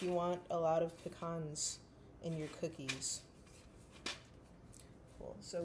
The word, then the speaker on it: pecan: The correct way to say it is pecan. And I know this because pecan is an Ojibwe word. In Ojibwe, the word bagan is nut. Bagan, pecan.